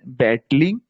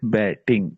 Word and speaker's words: battling: So it was written there battling, but you pronounced it batting.